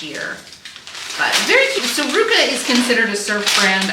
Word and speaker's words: RVCA: That's spelled RVCA, pronounced Ruka. I didn't know this until very recently. I called it RVCA, but these are just some cute, like oversized, breezy rayon overalls.